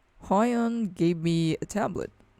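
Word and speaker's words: Huion: way high on style you pronounce it high on gave me a tablet it's a display tablet i think it's the canvas 13.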